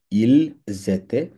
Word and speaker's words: ils étaient: ঠিক আছে, এই এসটা গিয়ে ওকে ধরবে, কারণ এখানে লিয়াজ হবে। প্রথম শব্দটা কনসোনেন্ট, দ্বিতীয় শব্দটা ভাওয়েল, এই জন্য উচ্চারণ করতে হবে ইল, জেতে অথবা এল, জেতে।